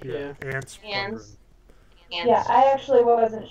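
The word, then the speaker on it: Anse: Yeah, I think ants is the best way for us to deal with it. I don't think it's antsy or anything. It's definitely not ons.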